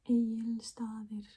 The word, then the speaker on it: Egilsstaðir: So it's Egilsstaðir. Egilsstaðir. It's not Egilsstaðir and Egils. Like the G is kind of silent, basically. The G is silent, not kind of. Egils. Well, maybe it's not completely silent, but Egilsstaðir.